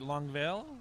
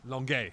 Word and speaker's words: Longueuil: We had 2 Impact players at the CCAA Awards banquet held at the Sandman Hotel in, I'm not pronouncing it right, Longueuil? Longueuil.